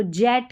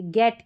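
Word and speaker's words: get: ज क्यों नहीं पढ़ते, इसको जेट क्यों नहीं पढ़ते, गेट क्यों पढ़ा।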